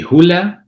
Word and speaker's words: Hulea: The right pronunciation will be Hoola, but it doesn't really matter.